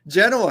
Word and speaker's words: Genoa: do all right well as the Italian I'm going to correct your pronunciation Genoa have you not had